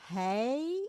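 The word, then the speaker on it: hij: Orang ketiga tunggal adalah hei untuk laki-laki hampir bunyinya sama dengan he dalam bahasa Inggris.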